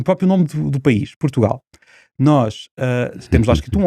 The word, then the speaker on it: Portugal: é a sílaba tónica, nós dizemos Portugal. O gal é que é o ponto, nós pomos a tónica e damos uma força àquela sílaba que os outros povos não dão.